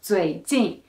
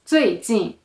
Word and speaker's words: 最近: It's not 最近, it's 最近, right? Why? It's because some students say this, it's like the first one is lighter and shorter. So, but some students will say 最, it's too low.